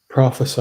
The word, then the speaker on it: prophesy: So prophecy. Prophecy is a noun. Ah, got Mhm. it. And this Prophesy is the verb. Prophecy is with a C, and prophesy is with the S.